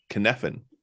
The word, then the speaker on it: Cynefin: Sure, it does, and it sounds nothing like how it's spelled. Nothing like how it sounds. It's Cynefin. He's Welsh, I believe, and he used I don't remember what the term means.